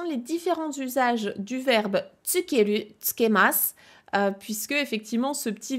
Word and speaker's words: 付ける: demande quels sont les différents usages du verbe tsukeru, tsukemasu, puisque effectivement ce petit verbe qui de